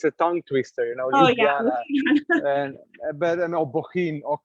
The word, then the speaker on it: Ljubljana: tongue twister, you know, Ljubljana, but Bohinj, or Kranjska Gora, all these places, and ja, it's not, we pronounce it as ja, like Germans would.